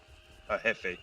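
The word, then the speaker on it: jefe: Hefe. It's hefe. So, he is a Spanish word. It means boss manager or chief. Spanish. So the J has an H pronunciation. It's Spanish.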